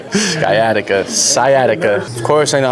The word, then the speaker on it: sciatica: I was trying to pronounce it and my wife was like, "That's definitely not how you say it." Sciatica.